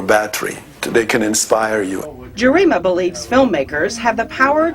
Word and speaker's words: Gerima: Yes, Gerima, I want to say it properly.